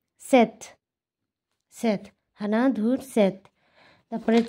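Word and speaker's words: 셋: করছি আপনারা বুঝতে পারছেন আমি কেন লাস্টে ত উচ্চারণ করছি কারণ এটা রুলসে আছে যদি এই কনসোনেন্ট গুলো যদি লাস্ট কনসোনেন্টে থাকে যেটাকে বলা হয় মানে হচ্ছে এই যে এক দুই তিন এই যে লাস্ট কনসোনেন্ট যদি থাকে তাহলে সেটার উচ্চারণ টি এর মত হয়ে যাবে আমি আমার ভিডিওতে আমি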